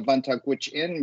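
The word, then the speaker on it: Vuntut Gwitchin: regards to um uh my first nation is the uh vantage witch inn but uh it was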